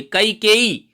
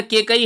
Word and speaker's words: कैकेयी: उच्चारण को साथ ठीक करिए, मेरे साथ दोहराइए, कैकेयी। जब कैकेयी नाम लेंगे आप, जब उच्चारण ये करेंगे तो कैकेयी ही लिखा जाएगा। उच्चारण अगर केकई है तो गड़बड़ होगा।